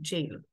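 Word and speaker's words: gaol: spell that one second so they say jail and they pronounce they spell it differently so in some parts of the world jail is spelled as j a i l in Australia they spell it as g-a-o-l and that's sounds a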